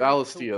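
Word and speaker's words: Valisthea: Valistia, that's how it's pronounced. I call it Ballistia.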